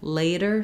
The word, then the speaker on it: later: So at any rate, think about, we have first syllable stress, and letter A in later says the A diphthong. So make sure you hold your A a long time.